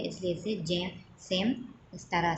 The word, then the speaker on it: Sejm: So same. SEJM. जे यहाँ पर control है, साइलेंट है, इसलिए इसे सेम इस तरह से रीड करते हैं.